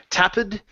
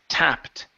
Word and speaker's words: tapped: your last one here is tapped with the T sound at the end the E is silent so instead of tapped it's tapped tapped good all right nice